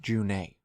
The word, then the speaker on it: June: As Gilderthalin pointed out in her video on him, the World of Thedas says his name is pronounced June.